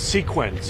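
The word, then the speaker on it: Seqens: That is Sequence. Sequence, just like it looks, I guess. And is it just Sequence, or is it PCI? PCI is the bigger, I think, umbrella company, and the Sequence is the company, right?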